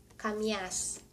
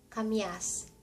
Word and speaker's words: kamias: kamias kamias It is pronounced the same.